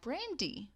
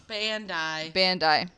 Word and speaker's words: Bandai: and other toys by Brandi. I'm not quite sure how to say it. Brandy, the singer? Nope, it's... Oh, I'm adding R's in there where there's not. Bandai. Yep, that's what it is.